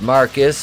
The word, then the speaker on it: Marquis: team and in walks marquise pronounced marcus because he's [ __